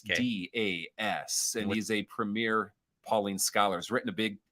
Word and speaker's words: Pauline: well you're wrong it's pauline pauline okay but how do